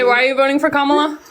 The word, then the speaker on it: Kamala: ask why you guys are voting for Kamala?